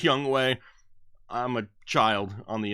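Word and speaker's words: Younghoe: Got the New England defense and Young Ho Koo, even though I know it's pronounced Young Way. I'm a child on the inside. I can't not say it, Young Ho Koo.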